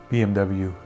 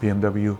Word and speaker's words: BMW: I have decided to start calling BMW for the German pronunciation, which is BMW. Because growing up in Europe and Iran, we always used to call BMW BMW. That's how the Germans pronounce it.